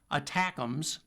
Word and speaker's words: ATACMS: Those include the ATACMS, short for Army Tactical Missile Systems, pronounced attackums, and the newer, even more accurate and even longer range precision strike missiles, or PRSM.